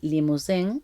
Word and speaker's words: Limousin: la madre, Ida Mabel Limousin, y lo pronuncio así porque era de origen francés, era birmana, había nacido en Birmania.